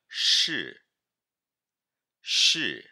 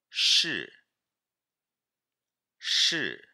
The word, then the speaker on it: 是: verbo ser leiam comigo lembrando que o sh a gente puxa língua um pouquinho para trás che che outro detalhe